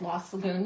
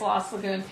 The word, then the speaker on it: Lost Lagoon: I really really really like I think that's what it's called La Saloon you know all of a sudden I'm having a second thought I'm gonna have to look here and make sure I'm saying it right let me see let me see I don't want yep it is lost Lagoon the new colors and